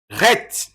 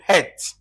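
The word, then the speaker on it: ח: On prend Ret. Répétez Ret. On peut dire Ret. Ret. Encore Het. Voilà. Donc, tu peux prononcer ça Ret ou Het.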